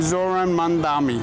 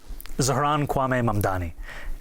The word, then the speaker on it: Zohran Mamdani: I'm running against a man named Zohran Mamdani. He's a socialist. If you can respond to that and tell us how you say it, your full name. Zohran Mamdani.